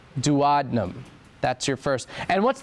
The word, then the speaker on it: duodenum: spelled out d u o d e n u m like duodenum but pronounced dadnum.